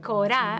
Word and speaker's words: kora: uh they move towards an enculturation of the kora which is the african loot harp the cora actually that's how it's pronounced will be modernized and will evolve because